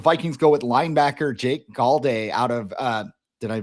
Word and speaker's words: Golday: second round, the Vikings go with linebacker Jake Golday out of uh Did I pronounce Cincinnati Golday, yep, yep.